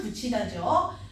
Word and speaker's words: 붙이다: 붙이다. 발음은 붙이다죠.